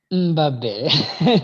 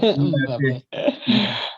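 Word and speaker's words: Mbappé: Mbappe. Mbappe.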